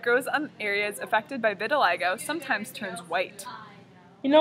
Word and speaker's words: vitiligo: and its effects on the human body well Vitiligo pronounced Vitiligo Vitiligo is a pigmentation disorder in which melanocytes